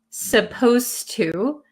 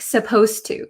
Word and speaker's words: supposed to: at supposed to and notice when I pronounce supposed to um the D sound and the T sound become kind of like one sound so when I speak supposed to supposed to it doesn't sound like there's a d that is